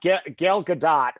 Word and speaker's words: Gal Gadot: the way I should get together yes yep gal gadot which is how you say her name by